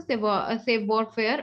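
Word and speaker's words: savoir-faire: Okay, so the pronunciation is like save warfare. Okay, so save warfare.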